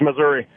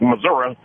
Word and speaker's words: Missouri: There's this battle been going on forever. Can't stand it. It's Missouri. Now, what do locals say though? Oh, it's a good half and half. A lot of the Ozark locals are like Missouri, and more of the city ones are Missouri.